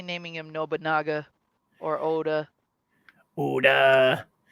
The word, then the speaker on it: Oda: Oda rhymes with soda.